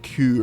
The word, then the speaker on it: Kuh: It's Kuh. It's pronounced Kuh.